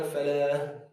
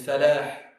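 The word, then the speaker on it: فلاح: Very important, pronounce the Ha. A lot of people say Hayya ala Falah. Wrong. There's no Falah. There's Falah.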